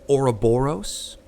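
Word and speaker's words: ouroboros: a robber i'm hoping i'm pronouncing this right oroboros my pronunciation oh yes yes you got it yeah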